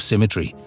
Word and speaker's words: symmetry: You might have noticed I used an older, more archaic pronunciation of symmetry, rhyming it with I.